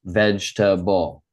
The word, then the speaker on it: vegetable: So we're going to say it in 3 syllables. Vegetable.